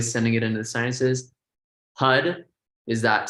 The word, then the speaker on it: Har: Hud is that sound of creation. It's spelled H-A-R, but again, it's like a rolling R.